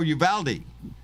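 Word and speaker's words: Uvalde: the um shooting in alvin alabama here in texas it's a school i pronounced it wrong oh you valdi you valdi yes you threw me off with that pronunciation oh i've been there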